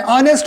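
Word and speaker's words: honest: है उसकी बात करें ऑनेस्ट होता है सर ह ओ एन एस टी और साइलेंट हो जाता है बस हो जाता है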